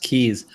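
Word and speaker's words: Cayes: that's interesting you know the word see ayes pronounced keys of course it is a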